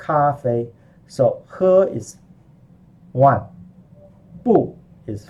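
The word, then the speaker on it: 不: tongue for cool changes changes depending on the tone of the character that follows it okay you got a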